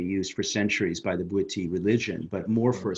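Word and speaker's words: Bwiti: talk about that but on iboga do you pronounce the tribe the booty booty yes yeah so so my understanding is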